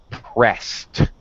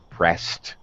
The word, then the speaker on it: pressed: eb as a t pressed washed okay laughed sometimes ed has a t pronunciation all right pressed and